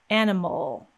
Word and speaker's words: animal: release that m sound we're immediately making an l with no vowel sound in between animal animal now if we added a vowel sound it would sound a little bit strange like animal animal so we want to get rid of that vowel entirely and go straight from m into l animal in most syllables in